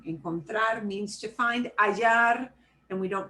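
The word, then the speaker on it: hallar: the same thing in contrary means to find ayar and we don't pronounce the aceh that means also to fine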